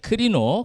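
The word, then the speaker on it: κρίνω: 이제는 아 제가 말 안 할 걸 여러분이 커피 막 이렇게 할 수 할 것 같아 가지고 내가 크리노 크리노입니다. 저 P로 된게 R 발음이거든요.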